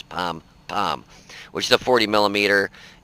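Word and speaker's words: pom-pom: I always thought it was Pon, P-O-N, P-O-M, but it's Pom Pom, which is a 40 millimeter, and I believe this gets actually the same exact gun.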